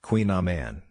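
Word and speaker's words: Kouign-amann: Queen Aman pronounced Queen Aman is a bread and pastry.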